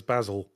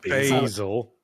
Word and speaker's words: basil: His name was Basil. That's a good name. It's a good bird name. Good anything name. Wouldn't have been as good if I used the American pronunciation, though. Oh, Basil. Basil.